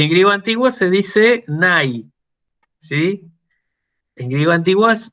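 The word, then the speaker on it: ναι: En griego moderno se dice igual, solamente que en vez de decir nai, el diptongo ai en griego moderno se pronuncia e. Así que en griego moderno se dice ne.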